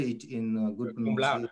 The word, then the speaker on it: cum laude: Could you please say it in good Cum laude. pronunciation?